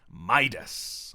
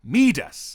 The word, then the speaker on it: Midas: name synonymous with wealth midas or rather meet us as the pronunciation of his name should be either way dionysus was